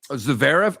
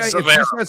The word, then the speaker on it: Zverev: and she has said, tell Miller he's pronouncing Zverev incorrectly. Zverev? Okay. Zverev.